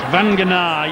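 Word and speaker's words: Vagana: Now then, will we get a run from the big fella, Big Joe Vanganar? You've got it wrong again. It's Vanganar.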